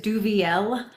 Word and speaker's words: Duvieilh: How do you pronounce it? I do, and it is Duvieilh.